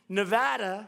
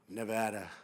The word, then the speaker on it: Nevada: And they don't know how to say Nevada. They don't know how to say it. She called it Nevada.